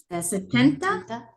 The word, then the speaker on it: setenta: Setenta. It won't be 60 with a double S. It'll be an S and a T.